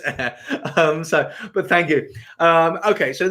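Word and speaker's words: Ayr: Darren's saying, I probably pronounced air wrong. Did I say ire? I do say ire sometimes. I know it's air.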